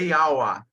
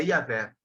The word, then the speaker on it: Yahweh: Em outra linguagem é Yahweh, mas na nossa pronúncia é Iavé.